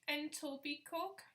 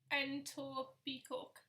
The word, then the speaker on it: Etobicoke: This place is pronounced Etobicoke. Etobicoke.